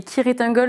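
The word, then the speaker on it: Cirith Ungol: Alors, Ciritangol, parce que en théorie, dans Seigneur des Anneaux, ça se dit Kiritangol, mais il me semble que le groupe le prononce Ciritangol.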